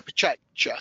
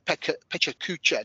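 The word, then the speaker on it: PechaKucha: come along who did a pechacha session, or a pechacucha, depending on your pronunciation, session, and they did really well, and they were very new in the industry.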